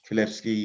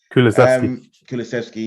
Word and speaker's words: Kulusevski: But then they pulled the 2 Juventus signings out, Bentancur and Kulevsky, whatever you say his name. Kulusevski, yeah.